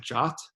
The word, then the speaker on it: JWT: called a JSON web the acronym is JWT we pronounce it jot I don't quite know